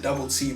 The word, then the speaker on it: Dub.L.C: You pronounce it Dub.C, but you spell it Dub.L.C.